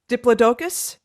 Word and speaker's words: Diplodocus: I kept on listening and listening, and then we were laughing beforehand because I'm gonna Diplodocus.